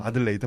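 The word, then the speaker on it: Adelaide: 그 유사한 발음은 들어본 것 같은데 아, 아마 그 요럴레이? 발음이 아니지 요럴레이? 않을까요? 그 발음이 아니지 않을까요? 아무튼 네. 아니 이거 내가 네. 나도 이상해서 네. 구글 네. 번역기에다 넣고서 음성으로 돌려봤어. 아들레이드 맞아. 네.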